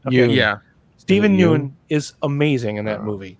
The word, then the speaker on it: Steven Yeun: But Steven Nguyen, did I say it right? Okay. Yeah. Steven Yeun is amazing in that movie.